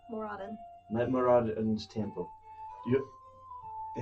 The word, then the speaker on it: Moradin: I'm at a temple of I always pronounce it wrong. Moradin.